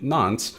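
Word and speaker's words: nonce: on from that we have this n nce pronounced non so what is the nons a nons is a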